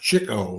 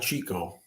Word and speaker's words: Chico: By the way, his name is pronounced Chico, not Chico.